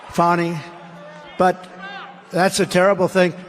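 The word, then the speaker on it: Fani: the horrible case of Fanny Willis it's it's actually pronounced fonnie it's f a n i but you pronounce it fonny a little French accent there fonny but that's a terrible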